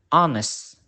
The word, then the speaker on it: honest: it can also be silent at the beginning of word for example honest our and after the letters c